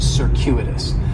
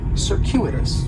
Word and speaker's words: circuitous: has four syllables and there's a few things going on with the pronunciation in the first syllable that c is going to have more of an S sound circuitous the stress is going to be on that second syllable and that CU is it's kind of like you're saying the letter Q Cirus circuitous and circuitous